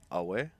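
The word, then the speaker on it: aweh: It's actually greeting in SA. It's pronounced Awe.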